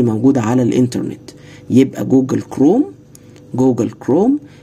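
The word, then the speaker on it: Chrome: جوجل كروم جوجل كرووم ايه جوجل كرومي اتش هنا بتتنطق جوجل كروم ده عباره عن ايه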